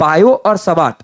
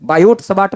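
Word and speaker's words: Biot–Savart: अब बायो और सबाट देखो टी साइलेंट है। बायोट सॉर्ट मत पढ़ देना।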